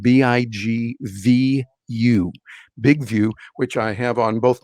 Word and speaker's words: BigVu: But often I'll use a tool called Big View. That's spelled BIGVU. Big View, which I have on both my Android device, and I also have an iPhone 11.